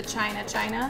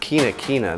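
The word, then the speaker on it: China-China: middle line with the china china yep is pronounced kinakina this is a a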